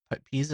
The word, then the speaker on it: Pisa: Looks like the lean tower of pizza or something. Pisa is how you say it.